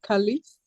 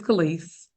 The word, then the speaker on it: Khalis: Am I pronouncing your name correctly? Khalis. Yes, you are correct. It's Kalis.